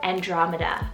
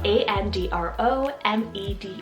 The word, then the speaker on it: Andromeda: in so many times and it's the name andromeda spell a-n-d-r-o-m-e-d-a andromeda which i really hope i'm pronouncing right i always feel like i get